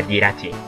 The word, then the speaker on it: Jirachi: O Jirachi, yo le llamo Jirachi, pero creo que se pronuncia Jirachi.